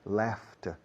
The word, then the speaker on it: laughed: Laughed termina con la letra D. Laughed. Pero tiene sonido de T.